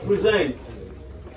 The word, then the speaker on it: present: The word present. The word present. When you stress the first syllable, it becomes a noun.